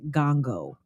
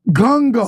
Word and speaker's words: Ngongo: My husband's last name, my last name, my married last name is pronounced Ngongo. Ngongo. So the first It's N, silent.